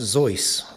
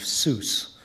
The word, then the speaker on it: Seuss: facts about Dr Seuss his German family name was actually pronounced zo rhymes with voice but Ted accepted the more phonetic pronunciation of Seuss which rhymes with juice for his author's name